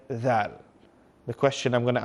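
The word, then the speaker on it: ذ: When we are saying the letter, pronouncing the letter dhal, the tip of the tongue is coming out.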